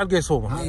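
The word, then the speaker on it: القيصومة: نفسها هي هي اي بس ان نطقه بالقاف بالقف نطقه بالقاف هذ مزارع القيصومه مزارع القصو نعم ك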